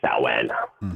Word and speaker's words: Samhain: Or Samhain is spelled Samhain, but it's called like Samhain.